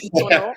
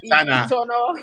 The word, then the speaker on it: Itana: It's actually pronounced in the Yoruba word, it's pronounced Itono, and I have to say it because we battled it in and out. We call it Itana, Okay, we'll give you a pass. the Yoruba pronunciation is Itono.